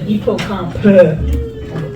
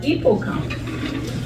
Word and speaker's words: hippocampe: OK, parce qu'on ne va pas dire hippocampe. On ne dit pas le à la fin. Alors, hippocampe. Lève ton pouce si tu sais que c'est un hippocampe.